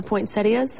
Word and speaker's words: poinsettia: to say that these colors back to the point saidas I'm saying it correctly right yes the colors